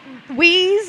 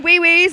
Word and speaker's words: WIWS: I'm being told that wheeze is fine. Wee-wees is how you say it. The wee-whiz.